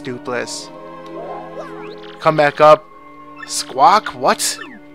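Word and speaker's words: Doopliss: So his name is Duplis. Doppelis. No, it's Duplis. I think it's Duplis.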